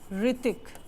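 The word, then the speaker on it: Hrithik: जैसे आवर, ठीक है, ऋतिक। अब आपको पता है ऋतिक रोशन का जो नेम है वो स्टार्ट किससे होता है? एच से होता है, बट वहां पे एच क्या है? साइलेंट है।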